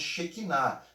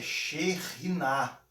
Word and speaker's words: Shekhinah: Nós pronunciamos Shekinah, mas a pronúncia correta é Shekhinah, ok?